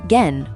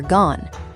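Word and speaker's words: 言: It's pronounced gen or gone.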